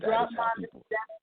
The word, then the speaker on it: Dropmon: So you yeah, said Dropmon. I'm actually on YouTube. It's spelled DROPMAN.